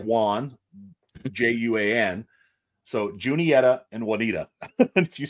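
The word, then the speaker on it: Juniata: but and pronounced differently j-u-n-i-t-a I think that's how it's it's junietta Junior okay the second one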